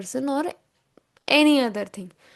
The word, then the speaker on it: on: At that time, you can use O N. It is pronounced as O.